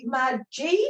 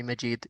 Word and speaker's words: Majid: yeah I don't know mad Jade if I could pronounce that correct yeah you can call me Majid yeah I'm Majid thank you um yeah